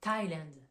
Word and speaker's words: Thailand: vous donne pour le pays Thaïlande ça se prononce en anglais Thailand donc ça c'est la partie exception où on